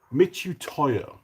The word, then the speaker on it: Mitutoyo: Uh this is I can never pronounce the name. I don't know why I should be able to. Mitutoyo. There you go. It's a Mitutoyo.